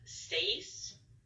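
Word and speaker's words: seis: six seven and eight for six we have stays and that is spelled s-e-i-s you hear that uh face so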